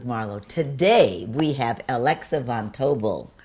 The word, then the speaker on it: von Tobel: today we have alexa von tobile rhymes with noble which i like she's